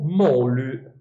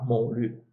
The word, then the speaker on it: moly: Gli dèi lo chiamano, e qui c'è proprio il termine greco, Molu, Moly, pronunciato correttamente alla greca, Molu.